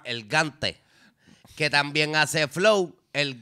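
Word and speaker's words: L-Gante: el tema se es que el nombre del se escribe una l gigante y diego se llama el cante que también hace flow el cante como el cartel devuelto lógico el gante familia argentina perdonen los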